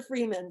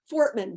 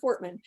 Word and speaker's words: Fortman: so this is carter carter freeman so fortman sorry said your name wrong carter fortman he is a senior